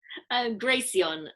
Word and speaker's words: Graceon: Graceon. So Graceon. it's like a Flareon, Vaporeon, Glaceon, Graceon.